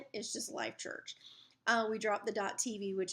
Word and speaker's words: Life.Church: We're going to have to put all that stuff in the seat backs again with our new stuff that say Life.Church, and the dot is silent.